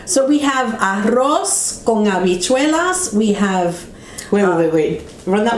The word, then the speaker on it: habichuelas: Habichuelas. Yeah, if we wanted to speak habichuela, we would put a J there instead of an H.